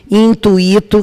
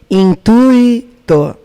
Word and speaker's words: intuito: As mais comuns em concurso é a palavra gratuito, fortuito, intuito, que essa pronúncia que eu fiz agora está com certeza errada. O correto é gratuito, fortuito, intuito.